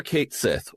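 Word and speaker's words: Cait Sith: We're going to use the actual pronunciation? I mean, we're using the actual, we're saying Aerith, so, may as well say Ket Shi, too.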